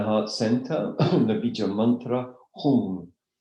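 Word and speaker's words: hūṃ: That means in this context it's a pure nasal, which sounds more like, if you were to write it phonetically, as if you were written H-U-N-G, Hum.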